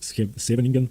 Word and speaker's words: Scheveningen: It's the Scheveningen variation of the Sicilian, or as it's supposed to be pronounced, and I'm sorry for this, Scheveningen or something like that.